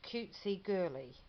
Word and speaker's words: CutsiGirly: challenge and it's um I think this this would be pronounced cutesy girly isn't that sweet cutesy